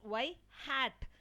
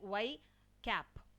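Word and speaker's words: ŷ: Okay, so we have to pronounce as y hat is the point estimator, and some people will pronounce like y cap.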